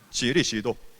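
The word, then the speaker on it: 基利斯督: 지리시도. 그러니까 이것을 중국말로 읽으면 지리시도라고 읽는 거예요.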